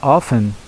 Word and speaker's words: often: Reparem que eu estou pronunciando a palavra often com o T mudo, o T silenciado aqui, tá bom? Isso é o inglês mais tradicional. O inglês dos dicionários de Cambridge e Oxford já admitem a expressão often, a pronúncia, tá bom? Mas eu vou usar a forma mais tradicional aqui.